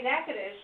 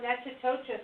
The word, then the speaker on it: Natchitoches: We're here in Natchitoches, Louisiana, and look, we have to say Natchitoches. It's not Natchitoches as it looks when you spell it out. It's Natchitoches, and then there's all the French.